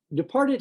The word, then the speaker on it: departed: Departed has a T that we pronounce like a D, departed.